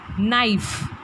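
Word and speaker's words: knife: नाइफ का बहुत ही silent है, यहाँ पर न ही हम पढ़ते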